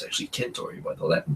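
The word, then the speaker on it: Centauri: Everyone says Alpha Centtory, but it's actually Kentory by the Latin pronunciation.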